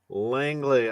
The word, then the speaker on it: Langley: of Spiderman uh doctor how do I pronounce her National problem is it likely Langley I'm a psychologist so it's Spider-Man psychology but